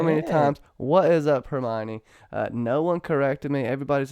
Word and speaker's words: Hermione: lenders baby and I gotta get this right Hermione said that wrong so many times what is up Hermione no one corrected me everybody's an [ __